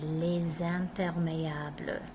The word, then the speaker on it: les: These all start with a consonant, so all we hear here is les. We don't even hear the S.